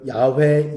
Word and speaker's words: 야훼: 이 야베란 이름은요, 예비하시는 하나님이라는 것이요, 여호와 이레라는 표현 쓰죠. 또 야훼 이레라고도 합니다. 우리는 여호와 이레라는 것으로 더 잘 알고 있죠. 사실 여호와라는 것은 우리나라에 들어와서 잘못된 발음인 것 같아요.